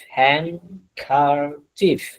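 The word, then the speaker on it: handkerchief: হ্যান কার চিফ একটি রুমাল হ্যান কার চিফ হ্যান কার চিফ উচ্চারণটা একটু খেয়াল করবেন অর্থ কি একটু রুমাল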